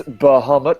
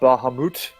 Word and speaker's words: Bahamut: But it's Bahamut, not Bahamut.